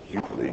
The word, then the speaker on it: Utley: Utley or Utley? Well, they've said it. They pronounced it Utley.